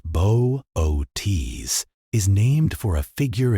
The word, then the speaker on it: Boötes: Bootus, pronounced Boise, is named for a figure in Greek mythology,